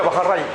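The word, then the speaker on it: Baréin: Este se pronuncia Bajarray.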